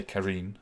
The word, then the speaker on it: Karine: vet office and um i should say karine is the intended pronunciation um and uh go